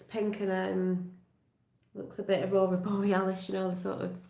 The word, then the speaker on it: Aurora Borealis: The Aurora Borealis, that's how you say it, Northern Lights.